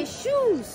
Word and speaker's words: Akershus: Ó, oh, não sei pronunciar o nome, acho que é Arqueshus, como é que é, Mari? Arqueshus. Arqueshus. Tem o no final. Segundo a funcionária, que é norueguesa, então acho que ela tá certa, né?